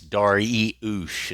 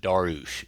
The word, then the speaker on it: Dariush: It's Dariush. It's not Darush.